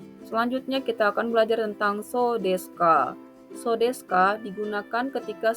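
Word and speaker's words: そうですか: So desu ka diucapkan dengan intonasi menurun.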